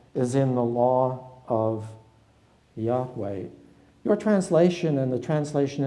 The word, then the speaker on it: Yahweh: in Hebrew there is a word which is probably to be pronounced Yahweh.